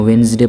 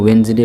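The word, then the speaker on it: Wednesday: यहाँ वेंसडे पढ़ेंगे इसको। दिन के जितने भी नाम हैं उसमें सबसे ख़तरनाक प्रोनाउंसिएशन अगर है तो वेंसडे का है, इसमें डी को नहीं पढ़ते हैं। इसके अलावा जो दिन के और नाम हैं उनके प्रोनाउंसिएशन उतना मुश्किल नहीं है जितना कि इसका है, इसको वेंसडे पढ़ेंगे।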